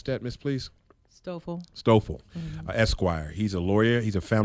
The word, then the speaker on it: Stoffel: Is that how you pronounce that, Miss, please? Stoffel.